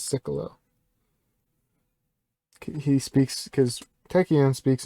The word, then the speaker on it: Sikulo: and wow that's him that's cyclo or it's sort of pronounced ceculo properly but since tekken has sort of a speech impediment he just says he just says siccolo he speaks because techian